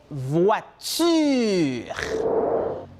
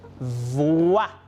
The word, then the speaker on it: voiture: La première est voiture. Voiture.